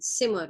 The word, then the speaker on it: Zimmer: That is pronounced as so in German, Zimmer, okay?